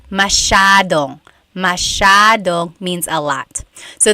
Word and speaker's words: masyado: Masyadong means a lot. So the S-Y-A is a sha sound. Masyadong. Yep.